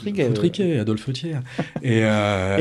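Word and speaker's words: Thiers: rel foutriqué F foutriqu adolp tierre et euh il faut bien prononcer par qu'on a déjà eu des problèmes c'est bien adolp ther adolp ah oui c'est pas adolp hicl c'est adolp tier oui bien sûr ou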